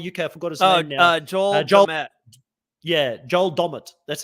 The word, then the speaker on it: Joel Dommett: in for Survivor UK I forgot uh yeah Joel dommett that's how it's pronounced I just bended somebody yeah so so